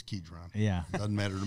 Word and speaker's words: Kidron: the book ketron Kidron how do you say Kidron I say Kidron I don't know maybe it's kedron yeah it doesn't matter